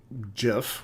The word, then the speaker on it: GIF: most browsers are JPEG, GIF, which I don't like the pronunciation, but that's how the guy who created it made it, so I prefer GIF, but it's actually supposed to be GIF, which makes me sad.